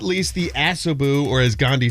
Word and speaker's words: Asobu: So the Asobu cold brew, which looks fabulous.